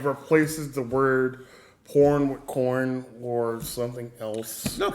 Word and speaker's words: Korn: Um, getting back to the point, I think we're Oh, so it's pronounced corn. Corn.